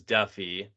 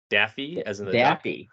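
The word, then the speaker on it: Daffue: pronounce his name well I said it was Duffy I think Jordan you called in a favor and it is Daffy yeah so I like South African contacts I reached out I sent them the Wikipedia page I was like how do I pronounce the last name and she said Daffy there we go so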